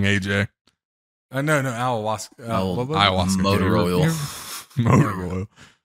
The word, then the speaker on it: ayahuasca: Well, that just means somebody spiked Rodgers Kawasaki. That's all. He's back to saying it wrong, AJ. No, ayahuasca.